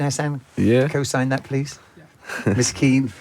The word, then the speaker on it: Miskeen: So, Correct pronunciation, Hassan? Yeah. Co-sign that, please. Miskeen, right? Miskeen, yeah.